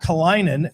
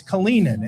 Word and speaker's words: Kalinin: It's not Kalinin, as Lindy would say, it's Kalinin.